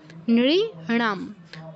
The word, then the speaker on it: নৃণাম: নৃণাম, নামের যে নটা এটা কিন্তু দন্তন্যর মতো উচ্চারণ করব না। নৃণাম।